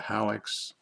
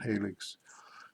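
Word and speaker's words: HALLEX: what they call a hallux some people pronounce it helix which is the hearing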